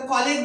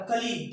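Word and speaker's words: colleague: ये बच्चा लोग प्रोनाउंसिएट गलत करता है, कॉलेज बोल देगा, कॉलेज बोल देगा। कॉलेज कितना इसलिए देता है, नहीं, ब्लंडर करे आप लोग। कलीग क्या हो जाएगा, कलीग।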